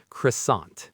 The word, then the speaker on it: croissant: How about croissant? C R O I S A N T. Oh, a delicious example. The T at the end is silent.